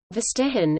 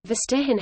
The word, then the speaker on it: Verstehen: Verstehen, German pronunciation, F-T-E-N, literally, to understand, in the context